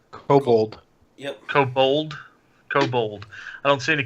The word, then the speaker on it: kobold: kobold taupe cobalt cobalt how the how's that pronounced Oh cold kobold kobold I don't see any kobolds on the